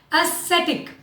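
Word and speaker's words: aesthetic: बड़ा interesting word है एस्थेटिक. ध्यान दीजिए मैंने एस और सी के नीचे लिखा है स. वाई? So that you remember कि आपको यहाँ पे स शब्द यूज करना है, स्क नहीं, स्कूल वाला स्क नहीं.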